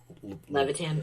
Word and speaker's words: Levitan: How do you pronounce his name? Levitan? Levitan, yeah.